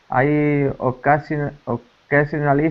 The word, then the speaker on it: occasionally: By the way, just a word about pronunciation. The j sound. Occasionally. Occasionally. Perfect.